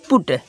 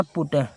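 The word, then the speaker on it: put: तो आगे देखते हैं पी यू टी पुट इसका बुट नहीं पढ़ना पुट पढ़ना क्या पढ़ना पुट पुट माने क्या होता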